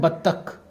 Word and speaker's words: बत्तख: इसका जो correct pronunciation है वो है बत्तख, बत्तख।